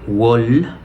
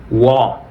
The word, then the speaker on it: wall: La palabra de abajo no es wool, más bien es wall.